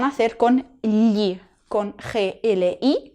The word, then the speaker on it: gli: hacer con gli, con G-L-I, que este sonido de aquí se pronuncia gli.